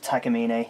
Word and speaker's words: Takamine: the pronunciation of Takamine it's a Japanese word tacky mean a named after a mountain from the earth in Japan and so we'll have